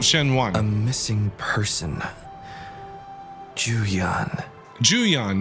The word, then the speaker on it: Shen Juan: Juan a missing person Juan Jan that's how you pronounce it the one you're